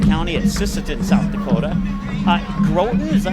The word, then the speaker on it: Groton: Hatton Northwood, Sargent County at Sisseton, South Dakota, Groton, is that how you say it? Is that how would you say it, Matt? Yep. Groton.